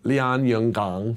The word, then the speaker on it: Lianyungang: The small city I visited, it was Lianyungang City, and that is how you say it. At least close. You practiced. I do. I said a lot of Lianyungang.